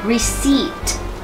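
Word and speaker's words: receipt: ว่า อย่าง ไร ดี อ่าน ว่า reat reat reat ลืม ตัว P หน้า ท เหม ไป สา นะ คะ reat แปล ว่า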